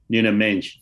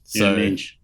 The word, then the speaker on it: Nuno Mendes: Nuno Mendes. Nuno, yeah. Nuno Mendes. Credit to FC Wonder Kid for that pronunciation.